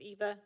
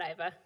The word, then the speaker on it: Eva: It's Eva, not Iva.